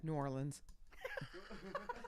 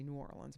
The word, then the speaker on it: New Orleans: we're gonna go to nollans Norland they don't even say it that way down there I said it once they looked at me like I was like I'm sorry because I said is that how you say it like she just looked at me with this disdain look no we say New Orleans Mike okay sorry did